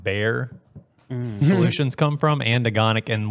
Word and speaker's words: Baer: we got that um so bear it's spelled b-a-e-r do you mean eat